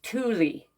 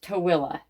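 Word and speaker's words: Tooele: Most people when you see how it's spelled, they call us Tuli. It's spelled t o e l e, but it's pronounced toilla.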